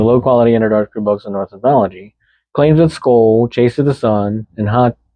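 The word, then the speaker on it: Sköll: Skull pronounced roughly skull.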